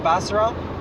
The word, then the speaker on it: Basra: syrup molasses from Iraq from Basra Iraq busted Oh Arabic that's the pronunciation they have a hundred